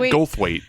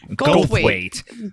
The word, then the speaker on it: Goldthwait: Bobcat Goldthwait. Goldthwait. That does Where have you been? That's not even like. Do you think I literally talk about this person all the time? Bobcat Goldthwait?